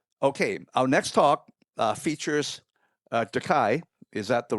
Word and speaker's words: De Kai: Okay, our next talk features Dakai. Is that the right pronunciation? Yeah, Dakai.